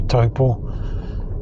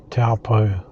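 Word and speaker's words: Taupō: won't know what you're saying if you say taupo which is actually the correct pronunciation but um more commonly known as taupo the big waterfall you saw back there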